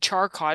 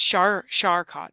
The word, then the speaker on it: Charcot: I said Charcot. That's CH. I thought, Yeah, yeah. but it's Charcot. Charcot is Oh, French, Charcot.